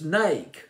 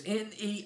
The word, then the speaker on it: Neiked: It's Neiked. It's Neiked. I believe I'll pronounce it as that. I checked out the pronunciation online.